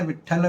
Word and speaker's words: विट्ठल: आप देखेंगे जब आप ठम ठम करते हैं, विट्ठल विट्ठल बोलते हैं, तो यहाँ पे ठ का उच्चारण होता है, आपकी जुबान ऊपर तालू से टकराती है, टंकन भेदन